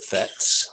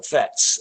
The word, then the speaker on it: PhET: many of you are aware of the the fets uh i'm gonna try and do this now